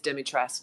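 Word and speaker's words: Dimitrescu: winning winning winning I think people tend to like they add the U to the end don't they yes there's a big hoopla about that but a capcom's official pronunciation is demitrust just like how you said it no so there you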